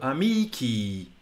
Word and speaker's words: amici: But our brains are confused by this because the long vowel on the end, our brains interpret it as a stressed quantity when it's not. So amici, and it's quite hard for us to do.